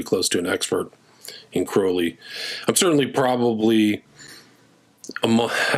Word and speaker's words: Crowley: So I think it's really Crowley. Uh that's the way he would pronounce it.